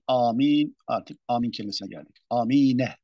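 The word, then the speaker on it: آمين: Amine tabii. Bu böyle okunuyor. Diyor ki amin. Tabii amine. Bunu fethalı.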